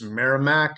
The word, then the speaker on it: Merrimack: On August 31st, they start off playing, I believe it's Merrimack is how you pronounce it.